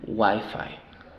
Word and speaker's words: Wi-Fi: Ahora, el acento, la sílaba tónica es en la primera. Wi-Fi.